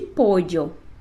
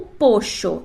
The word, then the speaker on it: pollo: usando o exemplo de pollo. Tu poderás escutar pollo, pollo, pollo ou pocho, dependendo da região ou do país onde tu estiveres.